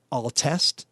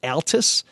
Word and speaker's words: Altes: the original Detroit logger that's Altus some people say it altest some people say it Altus why don't you to come see us to the cadu cafe we can settle this over a nice cold however you want to pronounce it alt's beer they are